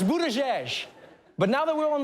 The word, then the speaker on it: Buttigieg: struggling with this one it's not Buddha edge it's not bood a J and it's definitely not but tag it's Buddha jesh but now that we're